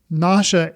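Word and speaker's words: Nasha: have been a joke NASA is actually said so it almost sounds like nauseous which I think I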